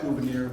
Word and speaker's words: Gouverneur: Is that how you pronounce it? Gouverneur?